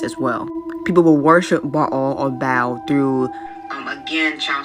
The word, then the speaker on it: Baal: It's Baal, that's how you actually pronounce it from Hebrew. Or Baal is how, or Baal is how we Americans pronounce it, is the king.